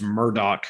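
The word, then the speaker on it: Murdaugh: out um and the name of the family is spelled m-u-r-d-a-u-g-h but it's murdoch murders yeah this is a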